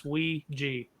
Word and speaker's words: Ouija: let Micha go first I'm fascinated by the Ouija board and I did look up on Google that is the correct pronunciation it's wi G so uh pardon my flashing in and out